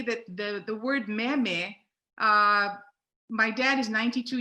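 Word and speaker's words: méme: something to tell you you did not invent the word meme or meme that's true so we have to drop an accent mark on the first syllable just to make it clear so there's a picture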